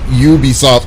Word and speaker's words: Ubisoft: the grammar wasn't wrong you guys the company's pronounced Ubisoft it doesn't matter there's a vow yeah want to be Visi soft.